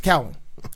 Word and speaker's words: Cowling: I'm going to say Culling. I'm just going to pronounce it Cowling, wrong. man. But I think Culling sounds better. No. It sounds wrong. It's easier No, that's wrong. It's easier for me. Totally wrong. It's Cowling. He corrected me.